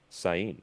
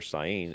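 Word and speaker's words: Seine: the opening ceremony on the river Sin." I believe is how you pronounce it.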